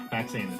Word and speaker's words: Faxanadu: Faxanadu. Fazanatu. This is what I was guessing it was pronounced The as.